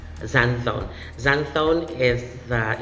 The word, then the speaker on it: xanthone: zenfone another example of an english word with letter x in the spelling but should be pronounced z zanzone zanthon is that it's it's